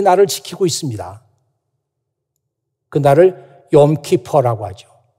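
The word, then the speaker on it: יום כיפור: 지금도 이스라엘 사람들은 이 나를 지키고 있습니다 그날을 욤 키퍼 라고 하지요 발음이 욤 키퍼 어항 사람이 0 키퍼 락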